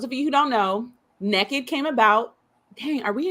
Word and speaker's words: Nekkid: the naked readathon so it is pronounced naked not naked naked and